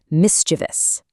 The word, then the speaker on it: mischievous: People love to add an extra I and say mischievous. Nope. It's only three syllables. Mischievous. Finally, epitome, meaning the perfect example of something.